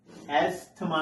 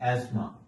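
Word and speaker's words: asthma: is magnesium not magnesium एथमा नॉट एस्मा this is एस्मा टी एच is silent year so this is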